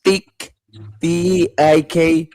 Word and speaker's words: Tikbalang: They depict it as Tik Balang Balang.